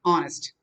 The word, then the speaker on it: honest: first oh honest or honest first you should know that h is silent fundamentally basically you should